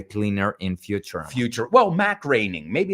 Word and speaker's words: Groening: Well, Mac Groening. Maybe it's The Simpsons. We're talking about Mac Groening because it pronuncia Groening.